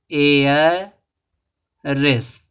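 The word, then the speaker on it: heiress: देखो एरस दिया है इसको क्या पढ़ेंगे एयर रेस एयर रेस पढ़ेंगे इसमें देखो य का साउंड नहीं आ रहा य साइलेंट है आर्टिकल क्या लगेगा एन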